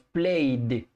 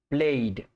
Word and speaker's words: played: Play es regular, se le agrega ed y cuando tienen la terminación en una vocal, la pronunciación es como si agregáramos la letra D al final y decimos played, played.